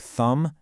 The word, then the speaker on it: thumb: Okay, on to our next suspect, the silent B. You've got it in words like doubt and subtle, but pay really close attention to words like thumb and climb. The B's sound is usually pretty strong,